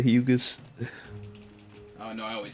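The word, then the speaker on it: Hyugas: That boy said the hayugas instead of the hugas.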